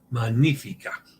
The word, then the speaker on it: magnifica: The GN in Italian is pronounced NY like lasagna. GN like the N with the funky thing in Spanish. Magnifica.